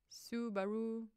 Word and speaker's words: Subaru: Oh, it is Subaru. It's like when it goes ooh baloo in one of the Disney movies, it's Subaru.